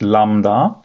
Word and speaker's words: lambda: + 3 so this back slash here is pronounced Lambda and so we typically say Lambda X2 X